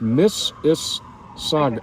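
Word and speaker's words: Mississauga: you say that again I'm told Miss it's pronounced Miss is Saga Miss Saga okay Nar naron Victoria Australia okay bford on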